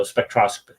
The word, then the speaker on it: spectroscopy: There we go, spectroscopy. That's how you pronounce it.